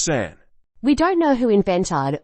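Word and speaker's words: 三: A2 is pronounced ni and a three is pronounced San we don't know who invented or H the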